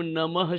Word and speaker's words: नमः: एक बात और बच्चों ये जो विसर्ग है ना हमेशा ह के रूप में उच्चारण होता है जैसे हम बोलते हैं ना ओम नमः शिवाय ओम गणेशाय नमः तो जहां पर नम के आगे डॉट दिखे तो हम क्या कहते हैं नमः तो यहां पे देखिए